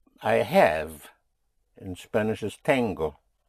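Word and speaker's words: tengo: I have in Spanish is tango. Tango. It's almost like the tango which one dances in Argentina but it is spelled with t e n g o tango.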